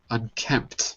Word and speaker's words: unkempt: Let me just say this properly for unkempt, like that. Unkempt. So the P is unkempt. The P, I guess, is silent. I never really thought about this before. Unkempt. Unkempt, right. The P is silent, yeah.